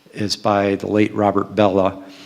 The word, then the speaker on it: Bellah: last few years, is by the late Robert Bellah. It's spelled B-E-L-L-A-H, Robert Bellah.